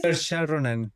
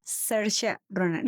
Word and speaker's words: Saoirse Ronan: Actuada por la actriz caribonita, ¿me recuerdas cómo se pronuncia su nombre? Saoirse Ronan. Saoirse Ronan.